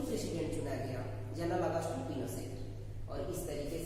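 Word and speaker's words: Pinochet: बना, वो प्रेसिडेंट आपका पिनोशेट बना। जनरल अगस्टो पिनोशेट फुल नेम है, प्रोनाउंस में पिनोशे कहा जाता है इसको।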